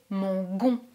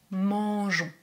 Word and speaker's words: mangeons: with us we eat careful there is an e just after the "g" this makes it possible to pronounce "mangeons" if there were no e we would pronounce " mangons" and it is not correct here we pronounce "mangeons" we eat then know